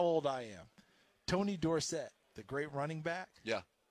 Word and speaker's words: Dorsett: at Pittsburgh it was Tony Dorsett Dorset does have a little more an indoor set with the punching the the door set and I played for his college coach Johnny Majors he coached coach Tony and you know Tony I was his baby now okay yeah his all-time favorite sure to the day coach Majors died he called him Dorset because he never had that door set yeah if you go